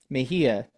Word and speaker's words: Mejia: I will say I kind of like, put this one with Mejia.